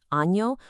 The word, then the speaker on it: año: The n sound like in the middle of canyon. Well, in Spanish, it gets its very own cool character like in ano or mono.